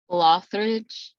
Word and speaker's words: Loughridge: i say it correctly lothrich it's like a th okay okay lawfridge is here with me